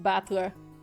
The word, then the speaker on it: Battler: far the problem is my given name is made up of the characters for fight and person ah okay so i did read the that one kanji right and it's pronounced battler put it all together